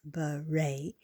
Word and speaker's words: beret: Beret.